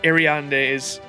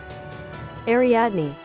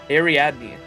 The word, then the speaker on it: Ariadne: sacrifices and ventured into the labyrinth with Princess Arand's. Oh my gosh, I keep forgetting how to say it. Ariadne. Ariadne.